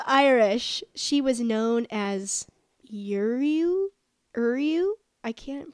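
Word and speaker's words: Ériu: In Old Irish, she was known as Uriu. I can't pronounce that. Sure. Eriu.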